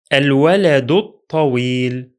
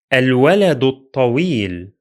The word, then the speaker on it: الولد الطويل: The first Hamza is pronounced because it's at the beginning of the speech. The following lam is pronounced because it is Lunar. The second Hamza is silent because it's in the middle of the speech, and the following lam is also silent because it is solar.